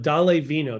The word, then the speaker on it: Dále Vino: So this is Tara Sanders of Dále Vino. Do I have that pronunciation right, Tara?